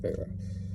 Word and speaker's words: Wera: I'm going to pronounce it Wera in America, but I've heard it's German. It's pronounced Vera.